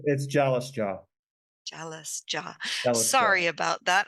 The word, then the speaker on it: Jalasjaa: It's Jalasjaa. Jalasjaa. Jalasjaa, Sorry about that. I butchered that a bit.